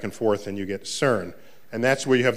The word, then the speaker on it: CERN: of the cern collaboration so cern is how you pronounce the word which i think in